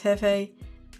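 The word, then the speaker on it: Jefe: um El Jeffy reviews El Jeffy pronounce Hefe meaning the boss in Spanish also his name is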